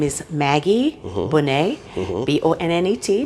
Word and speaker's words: Bonnet: you i'm well rico my name is maggie bonnay b-o-n-n-e-t not like lisa bonnet a little different like the butter it's like the butter yeah or some people will say bonnet yes depends on where you're from exactly so